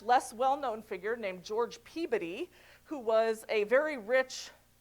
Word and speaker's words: Peabody: That's why there are many things named after him, like the Peabody, mostly sometimes people pronounce it as Peabody, but Peabody is how the New Englanders will be mad if I don't say Peabody.